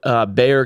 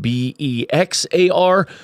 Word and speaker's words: Bexar: Quick note, Bexar County is spelled B-E-X-A-R, which I found out while I was there. I was trying to call it Bexar like an absolute noob. It is Bexar.